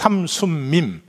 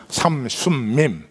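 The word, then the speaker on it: 삼숨밈: 그래서 삼순밈, 미음자가 3개 들어가니까 발음이 엄청 어려워요. 삼순밈.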